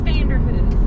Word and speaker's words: Vanderhoof: Yeah, I don't know how to pronounce where we're at. There it is. Vanderhoof. It is Vanderhoof.